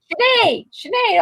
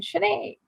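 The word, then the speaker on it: Sinéad: Sinead. Oh, I always get that name wrong. Sinead.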